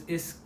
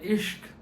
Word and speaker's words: Ishq: Love is Ishq uh Ishq in Hindi. Um and it rhymes with risk.